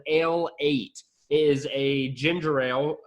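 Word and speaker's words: Ale-8-One: You could also pronounce it a late one if you didn't want to call it Ale 8.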